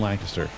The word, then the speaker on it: Lancaster: There's no G in Lancaster.